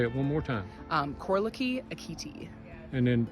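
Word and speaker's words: Korleki: youtube channel yes so it's my name k-o-r-l-e-k korliki last name a-k-i-t-i oh no spaces space between my first and last name and say it one more time um corlocky akiti and then spell it k k-o-r-l-e-k-i space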